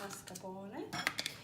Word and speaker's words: mascarpone: Mascarpone, to pronounce it as a real Italian, and maybe you have noticed that both of us, we have this strong R, which means we are, in our languages, accustomed to pronouncing this R.